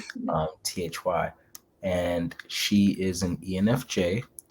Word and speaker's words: Thy: Literally, that's how you pronounce her name, Thy.